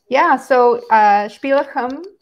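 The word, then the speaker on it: Spíləxm: Spíləxum, the X is pronounced with like a clearing your throat sound. It's not a X in that, like the English pronunciation.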